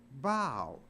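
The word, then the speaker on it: bough: but it's not pronounced bath it's pronounced bow so even though a and there the o u is pronounced like a long o o i f from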